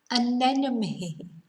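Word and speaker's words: anemone: people to pronounce or english speaking people to pronounce anenome an enemy and what is an an enemy is a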